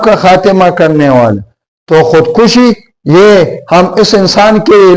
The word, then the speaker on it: خودکشی: ہو کر اپنے ہاتھوں خودکشی کر لی۔ تو خودکشی، خے کے اوپر پیش وہ دال سائلنٹ، کاف کے اوپر پیش شن اور چوٹی یہ سائلنٹ۔ تو خود کو مارنے